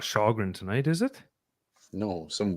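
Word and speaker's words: Källgren: K-A-L-L. That's Shalgren. That's how you pronounce it. How do you get Shalgren out of that? That's a K. You Swedish.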